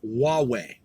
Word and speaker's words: Huawei: It says here again from Business Insider South Africa, 25 May 2019, quote, the correct pronunciation of, and then it's spelled, is Huawei. Huawei. WAH-WAY. Huawei.